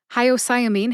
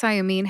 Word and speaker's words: hyoscyamine: Mastery let's get started hyamine has five syllables that's high like the greeting High o like the letter in the alphabet o sigh like a sigh of relief uh which is a short a sound or a schw a sound uh and mean as in Bullies Are mean even though hyamine has